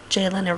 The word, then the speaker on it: Jalyna: to pronounce or spell it's just j as in blue jay or the short form of the name jason and lin as in linda or lynette so it's j lynn and i just added